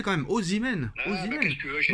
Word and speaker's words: Osimhen: C'est Osimhen, Nono. C'est pas compliqué à prononcer quand même. Osimhen.